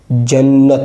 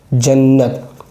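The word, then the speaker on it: جنّت: अब ये देखिए मिला हुआ ये, इसकी जो मिलावट इस तरह बन जाएगी जन्नत, नून पर तशदीद है, ता तो साकिन ही है पहले से, जन्नत।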